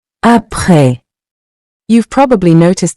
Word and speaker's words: Après: Après. Meaning after. Say it with me. Après. Après. You've probably noticed the final S in both words is silent.